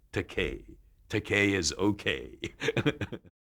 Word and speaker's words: Takei: uh Jean Roddenberry uh he called me George takai which is a mispronunciation uh of the EI in my surname but I told him